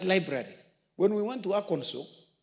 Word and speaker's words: Arkansas: When we went to Arkansas, I know people call it Arkansas. It's not called Arkansas, it's called Arkansas. In fact, they have passed a law on the pronunciation of Arkansas. If you say Arkansas, they tell you, no, it is wrong. It is pronounced Arkansas.